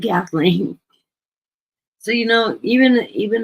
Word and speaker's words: Kathleen: You know how many times my name is mispronounced? You would be surprised. Usually I get Catherine. I get Kathy mean I get Cat. Uh uh UPS guy called me Caitlyn.